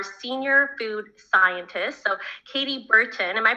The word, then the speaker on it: Burton: she is our senior food scientist so katie burton am i pronouncing that correctly your last name katie i